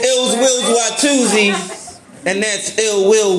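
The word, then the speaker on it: Illz Willz: So, it's Ills Wills Watu'z. And that's Ill Will with two Z's. And it's spelled I-double-L-Z-W-I-double-L-Z.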